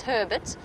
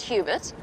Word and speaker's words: Hubert: it's Hubert it's it's Herbert Herbert not Hubert obviously that's that's how he wants us to pronounce it it's slight it's spelled slightly different but he wants it pronounced Herbert well that's how he